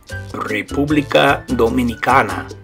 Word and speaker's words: República Dominicana: So in Spanish, you say República Dominicana.